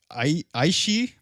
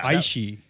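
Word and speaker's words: Aos sí: Others say that leprechauns are a part of the Aishi. Yeah. Aishi. AOSSI is how it's spelled. Ooh, man, what a language, huh? They were probably drunk when they wrote it. Aishi race.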